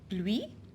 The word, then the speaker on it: pluie: Pluie, la pluie.